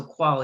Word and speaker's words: Quol: qual and for those of you listening it's it's spelled spelt q-u-o-l so qual it's an advisory firm and so you know